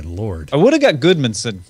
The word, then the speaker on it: Guðmundsson: And I will leave the pronunciation of the artist who's creating this monument to you, Breki. Yeah, say that. Sigurður Guðmundsson. Oh my lord. I would have got Goodmanson right.